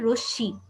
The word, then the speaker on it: রশ্মি: ঠিক আছে, রশ্মি তো আমরা রশ্মি বলি না, কিন্তু এটা হবে রশ্মি। রশ্মি যার সাথে যুক্ত হয়েছে তাকে আমরা দুবার উচ্চারণ করলাম।